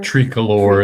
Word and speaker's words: Tricolor: Tricolor is how they say it in Spanish, but yeah.